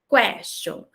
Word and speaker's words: question: Question. Essa primeira pronúncia é do inglês, question, e essa segunda, abertinha, mais aberta, é do francês.